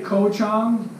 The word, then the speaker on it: Koh Chang: island is gold go Tom if I say Koh Chang I'm going to Koh Chang it could be